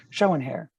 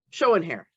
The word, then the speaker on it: Schoenherr: by Schoener and how do you say your last name showing hair showing hair up north yeah oh